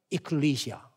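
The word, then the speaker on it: ἐκκλησία: 영어 발음은 좀 에클레시아가 아니, 영어 발음은 이클리시아. 이클리시아. 이건 좀 간단히 하고 클리시아로. 이클리시아.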